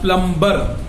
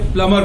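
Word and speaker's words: plumber: यहाँ कहा जाता है, लेकिन वर्ल्ड वाइड इसे प्लमर बोला जाता है, इसमें बी साइलेंट होती है। ये प्लम्बर नहीं होता है, प्लमर होता है।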